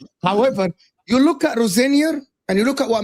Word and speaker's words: Rosenior: How do you say it? Rosenior. Sam had 1 hour of the show to teach me how to say that. So Rosenior kept saying Rosenoir like he's as their permanent manager.